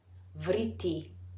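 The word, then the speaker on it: vṛtti: This dotted R is the vowel ri. Vritti, vritti, vritti.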